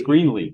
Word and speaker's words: Greenlee: thank you Mr Greenlee I've mispronounced your name I said Greeley but it's great it's Greenly yep Greenly green right all right and thank